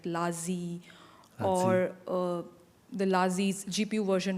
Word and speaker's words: LaZi: The name LaZi, did I pronunciation right?